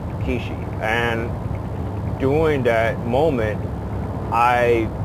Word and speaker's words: Quchee: And this being said, in translation in your language, it's pronounced as Kwee-Shee, okay? And that's the name, Kwee-Shee.